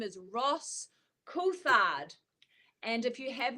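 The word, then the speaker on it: Coulthard: that I absolutely love his name is Ross kard and if you have not heard of him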